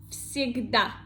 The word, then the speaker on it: всегда: First one is the sound v, and it is voiced sound. But second one is the sound s, voiceless. So first voiced sound v have to become also voiceless, and it become the sound f from the list of our voiceless sounds.